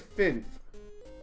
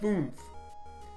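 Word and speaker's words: fünf: I think it's Finf. I think that's how you say 5 in Germany. Finf. It looks like Funf, but because of the U. But I think I've been told it's Finf. Finf. Or Finf. Something like that. I know how it's spelled. I just don't. It's saying it is the difficult part. Someone said it was like Nymph, but with an F.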